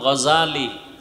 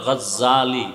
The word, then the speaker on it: গজালি: এইমাত্র তো বললাম আবু জাহল, জেহেল না জাহাল, নাম হলো ইমাম গজালি। বলে গজ্জালি না, গজালি বিশুদ্ধ উচ্চারণ, গজ্জালি না।